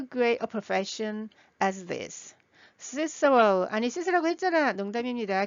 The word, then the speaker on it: Cicero: Cicero, 아니 시스라고 했잖아. 농담입니다. 키케로인데 영어 발음이 Cicero입니다.